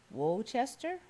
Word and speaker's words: Worcester: is Worchester sauce pronounced don't pronounce the first R whoa Chester there is some residual